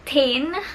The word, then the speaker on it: TIJN: the sponsored products from tijn so you guys and if you're interested then please keep on watching in collaboration with t i j n and the right pronunciation is teen which is spelled as